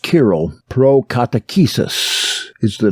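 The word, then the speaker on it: Cyril: tremendous quote that is kirill of jerusalem that c-y-r-i-l pronounced kirill pro-catechesis is the name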